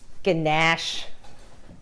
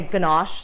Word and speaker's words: ganache: I like to say it like the Australians do. They make fun of me because I say ganache, like very posh, like Americans do, and they say ganache. And I'm like, ganache.